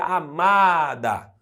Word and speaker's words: amada: a outra palavra destacada amada Ou seja a sílaba tônica não é a última EA penúltima é uma palavra uma paroxítona amada tô falando as palavras